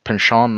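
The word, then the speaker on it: Pynchon: author Thomas oh yeah pin Shawn I believe it's pronounced but you who are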